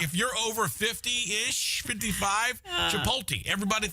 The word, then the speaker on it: Chipotle: how old you are, the way you say the restaurant where I got the CHOPOTLE. How do you say that? Chipotle. Yeah, Chipotle. The big thing is a lot of people over 50, they say Chipotle.